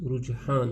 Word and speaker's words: رجحان: پیارے بچوں، یہاں رجحان لفظ ہے، اس کا تلفظ رجحان ہے، تو اس کا معنی ہے میلان، توجہ،